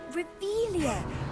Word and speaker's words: Revelio: place where are you saying it wrong oh rebelia much better oh shut up wait Akio he's